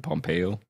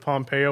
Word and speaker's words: Pompeo: How do you pronounce his name? Pompeo?